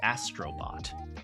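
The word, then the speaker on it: Astro Bot: So the game I was thinking of playing next, by the way, is Astrobot, because it won Game of the Year. What do you guys think? In Japanese, it's pronounced Astrobotto. Anyway.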